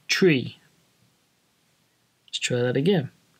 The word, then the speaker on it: three: green red it's incorrect so it should be pronounced tree let's try that again tree there we are got